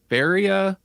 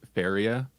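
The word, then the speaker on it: Feria: We watched Faria, The Darkest Light. And I might be mispronouncing Faria, but it's spelled like it sounds, F-E-R. It spells like I'm making it sound, I should clarify.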